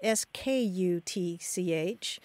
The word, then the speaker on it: skutch: I more often see it as S-K-U-T-C-H, pronounced skutch, like you said.